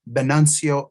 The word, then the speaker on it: Venancio: pronounced well uh the the proper pronunciation here in New Mexico with the V would be a b sound so it would be benancio not even